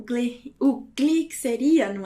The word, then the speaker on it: gli: Botilha, como a gente já viu, então temos o glá, o gli, que seria, não é? Agora nós temos ali, que é o li, tá? Não é pronunciado como gli, mas como li.